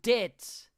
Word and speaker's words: debt: So, as we're talking about debt, so the B is silent.